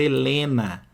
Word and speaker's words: Helena: na contagem de fonemas Olha a palavra Helena Helena eu tenho seis letras Mas ó esse H aqui não tem som Então na hora de